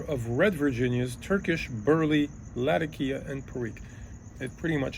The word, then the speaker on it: Latakia: I think the proper pronunciation actually is latakia.